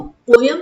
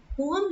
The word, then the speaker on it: poem: पोएम, पोयम नहीं बोलिएगा, पोयम गलत प्रोनाउंसिएशन है, पोएम ही सही प्रोनाउंसिएशन है, ठीक है।